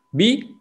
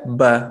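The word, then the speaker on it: بِ: Tidak dibaca ba, pasti bi bacanya bi.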